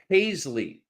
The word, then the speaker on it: Haisley: says dear Rick camela my last name is pronounced Haisley okay because it's uh like Pace Ley if you phonetically do it but Paisley all right I'm going